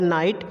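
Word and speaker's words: knight: Example के लिए आप देख पा रहे हो, पहला वर्ड है नाइट, यहाँ पे के है, के बाद एन आ गया है, उसके बाद हमारा आई वॉल्स आया है, तो यहाँ पे के हमारा क्या होगा? साइलेंट हो जाएगा।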